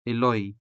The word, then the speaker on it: iloy: And what about the native word iloy? How come it is spelled with an O when it is represented by the native vowel U?